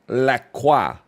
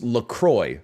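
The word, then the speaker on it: LaCroix: And then we've talked about this before, but your your company is called Laqua. Laqua. But you're like, "Nah, dude. It's Lacroy." Okay, fair enough. I'll pronounce it Lacroy.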